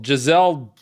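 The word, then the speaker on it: Gisele: I always get her name wrong. Giselle. Giselle Bündchen? Not Giesel. Giselle Bündchen.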